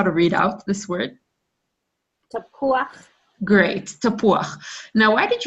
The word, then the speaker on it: tapuach: Yes, chet, if you see vav and chet, then it's uach. It's not uch, it's uach, tapuach. There are other words in Hebrew when that happens, so fantastic.